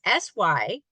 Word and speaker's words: Synthesia: So it's a program called Cynthia, and it's spelled with an S. Synthesia, if I could pronounce it correctly, with an S. It's Synthesia.